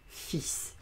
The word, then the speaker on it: fils: Mais le fils, l'enfant des parents, ça s'écrit F, I, L muet, S, et ça se prononce fils.